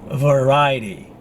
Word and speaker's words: variety: Now I'm reckon next word is variety. Variety. With the stress, second syllable, ra. Variety. Not variety.